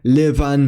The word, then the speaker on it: liban: And voiced by labial fricative v immediately after vowels, as in liuva meaning deer, livan meaning to live, and gravan meaning to dig. The letter D may also be pronounced in two ways.